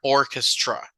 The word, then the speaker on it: orchestra: play professionally with an orchestra but in English the sound of the CH here is more like a C Sound orra Orchestra okay so you have that part